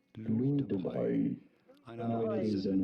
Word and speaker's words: Louis de Broglie: Louis, which is of course how we say this in French, silent S. Louis de Broglie. Louis de Broglie.